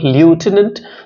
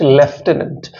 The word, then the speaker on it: lieutenant: pronounce if you just Americans pronounce this word Lieutenant whereas the English pronounce it leftenant so the American Lieutenant